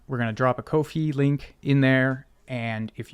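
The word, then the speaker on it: Ko-fi: is drop the I am told it is pronounced Kofi uh which is sort of a digital tip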